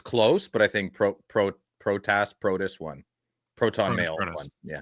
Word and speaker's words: Protas: Do we know how to pronounce Protas? Is it Protas? It's Protas.